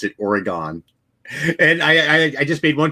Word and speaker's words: Oregon: I actually went not grammar Nazi on a Truth Sleuth video because she pronounced it Oregon, and I just made one comment like, it's pronounced Oregon.